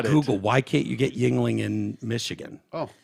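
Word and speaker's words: Yuengling: don't know you said Yingling yeah what y-u-e-n-g-l-i-n-g and that's pronounced Yingling yeah um what it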